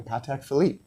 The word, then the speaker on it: Patek Philippe: And the same thing like yes, I know when you call them up they will say thank you for calling Patek Philippe.